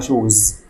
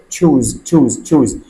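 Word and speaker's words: choose: انا عندي بعض الطلبه بيقولوا على يختار يعني شوز. خليني اقول لك ان كلمه شوز دي معناها مؤاخذه الحذاء. طيب هو نطقها ايه؟ نطقها تشوز.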